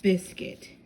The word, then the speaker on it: biscuit: Now, we're on biscuit. Biscuit. However, biscuit is written as biscuit because the I is actually silent. So, how can you make bis cut with a silent I?